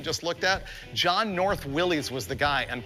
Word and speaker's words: Willys: John North Willys was the guy, and properly it's pronounced Willis, but no one says that, so stop telling me that. It's a Willys.